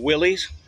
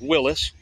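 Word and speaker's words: Willys: original company people call Willies it's pronounced Willis but it all led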